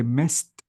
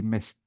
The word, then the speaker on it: missed: So if I want to say missed, notice I replace the D with T, missed, and I deleted the E.